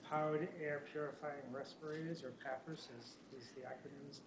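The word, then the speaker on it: PAPR: next thing is powered air purifying respirators or papers as is the AC is pronounced we we are currently EV valuing the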